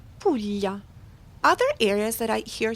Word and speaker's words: Puglia: Pulya is often mispronounced, but such a beautiful region in the boot of Italy. Pula.